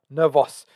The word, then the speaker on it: Nervos: I know you taught me how to pronounce it properly now. Nervos.